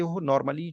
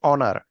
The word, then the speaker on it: honour: आधार पे मेनली, जैसे ऑनर, HONOUR, ऑनर, ऑनर actually हॉनर इसको नहीं पढ़ते हो, ऑनर पढ़ते हो, सम्मान, तो एन ऑनर, ओके।